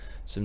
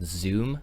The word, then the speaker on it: Xu: with the sum app it is spelled Xu mmm I always called zoom but it is called some and I just wanted